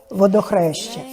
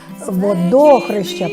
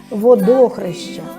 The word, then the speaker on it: Водохреща: співати саме до свята Водохреща я неправильно називаю наголос Я вам не сказала що водохрища правильно називать це свято із наголосом на другому складі водохрища і воно мало іще